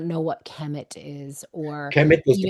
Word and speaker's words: Kemet: So it comes as KMT. Kemet, it meant the Black Land,